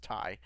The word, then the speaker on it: Ti: and the geforce rtx 3090 ti or apparently it's called pronounced tie that we all learned